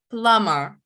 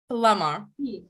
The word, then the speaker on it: plumber: which letter is silent plummer plummer b is silent okay right and i've